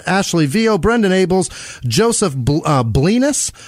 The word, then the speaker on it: Blenis: Keith Neverow, Jackie Sukup, Stephanie Igoa, Ashley Vio, Brendan Abels, Joseph Blenis, rhymes with penis, Peyton Meadows, and real